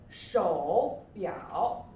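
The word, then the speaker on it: 手表: Here, 手表, 手, okay, O before U, 手, third tone, 表, 表.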